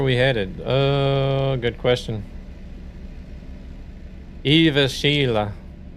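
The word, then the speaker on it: Jyväskylä: J Y A S K Y L A or E. That a is is pronounced like E.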